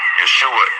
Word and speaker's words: Yeshua: Yeshua is how his name is pronounced in Hebrew. Jesus is how you pronounce his name in English. Jesus is how you pronounce it in Spanish.